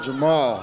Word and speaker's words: Jermall: win it good luck Jamel what do you want to tell you or your people here this is Jamal that's how we pronounce it in age baby uh-huh I want